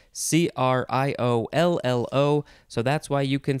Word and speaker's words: criollo: word in this episode is criollo creolio or you can say it kriyoyo without the l sound it is spelled c-r-i-o-l-i-o